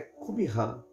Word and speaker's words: Qumran: Qumran é uma comunidade, a pronúncia certa é Qumran, é uma comunidade junto ao Mar Morto, né?